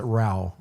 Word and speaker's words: Ra: Ra like Ra. Ra, yeah, they pronounce it Rao.